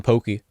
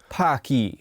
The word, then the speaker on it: Pocky: Pocky were pretty good I used to pronounce them Pokey Pocky I've got four different flavors I still think that's a better pronounciation but chocolate occasionally strawberry